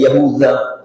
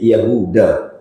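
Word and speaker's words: يهوذا: Nabi yaakub Alaihi Salam namunya yahuda Eh yahudza tapi Kemudian untuk mempermudah membacanya dirubah menjadi yahuda Nah anak turunannya ke bawah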